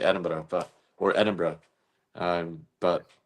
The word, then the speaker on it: Edinburgh: Eden is is four syllables. Edinburgh. Bar. Edinburgh.